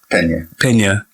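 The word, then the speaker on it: Peña: Pena. There you go. Oh my God. You gotta say it with the accent. Pena.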